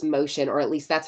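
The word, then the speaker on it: Mocion: u in there I don't know but it's pronounced motion or at least that's how David pronounces it it looks like mosan is what if you were to like read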